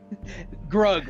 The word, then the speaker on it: Grug: Um, Grug rhymes with lug.